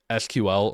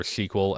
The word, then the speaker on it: SQL: given time so that's kind of how no SQL works there's a lot more to it but